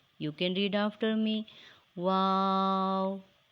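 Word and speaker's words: و: It is pronounced by rounding both lips and not closing the mouth. You can read after me. Wow, wow.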